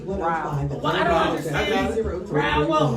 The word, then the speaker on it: Rowell: I said it right, Rouse. At 5819 Templeton Road, Suite 105. Well, I don't understand. Rowell, no S. Rowell. Rouse. Rowell, actually. Say that, Rowell.